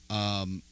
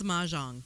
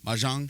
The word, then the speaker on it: mahjong: this puzzle game, and it is Mojang. Am I saying it right? I think it's mahjong, Mahjong. the tile game. It is Mahjong.